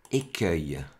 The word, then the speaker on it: écueil: écueil c'est toujours difficile comme ça se prononce œil à la fin on voudrait que ce soit eil donc au moment où